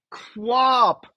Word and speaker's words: QWOP: Quap. Of course. And no, I never thought to pronounce it like that.